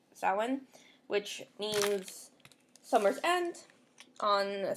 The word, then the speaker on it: Samhain: They called it Samhain, and they show you in brackets pronounced Samhain, which means summer's end.